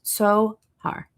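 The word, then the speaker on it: Tzohar: Because it's not a z, it's tsa. So it's Zohar in English.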